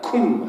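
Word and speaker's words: קום: 근데 여러분, 일어나라 라고 하는 이 표현이 히브리 표현으로 어떻게 발음하냐면요, 쿰이라고 합니다. get up이 쿰입니다. 그래서 달리다 쿰 하면 이게 little girl get up 이런 뜻이에요.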